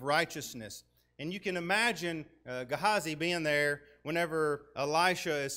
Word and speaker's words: Gehazi: this was elisha's servant so there are a couple of different pronunciations you can pronounce it gehazai or gehazi i'm going to stick with gehazi because for whatever reason that's stuck in my mind so that's what we're